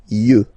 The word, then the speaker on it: yeux: Un œil, des yeux, okay? Don't pronounce the final X as usual.